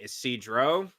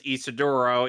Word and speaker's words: Isidro: She also liked the red haired kid named Isidro, Hmm. whom in Bang Zoom's infinite wisdom decided to pronounce as Isidoro, even though that's inaccurate and woefully incorrect.